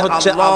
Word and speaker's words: আল্লাহ: অনেকের হয় না উচ্চারণটা হচ্ছে আল্লাহ পাকের নামের উচ্চারণ হচ্ছে আল্লাহ আল্লাহ হয়ে যাবে বলেন আল্লাহ আল্লাহ সুবহানাল্লাহ